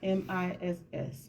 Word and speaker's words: Mz: Why you have MZ as Miss? Because I prefer it that way. It's you can pronounce it as MISS, Miss.